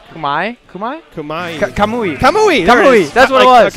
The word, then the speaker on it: Kamui: we got this hold on hold on K Kumai Kumai Kumai Kumai kamui kamui that's what it was okay I was